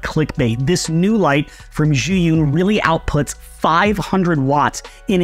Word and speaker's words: Zhiyun: So the pronunciation is Zhiyun.